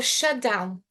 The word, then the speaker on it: shutdown: Se eu tenho um T e um D próximos, pronúncia fica separada, junta, right? Porque o D e o T têm sons iguais. Letras diferentes, mas com som iguais. Yeah? Então eu falo shutdown. Não tem pausa aqui.